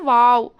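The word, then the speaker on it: واو: Next வாவ். வாவ் வந்து நம்ம நார்மலாக இதுக்கு வந்து எதுவுமே வந்து டச் ஆகாது. மவுத் வந்து சர்க்கிள் பொசிஷனாக வச்சு நம்ம ஓதுவோம்.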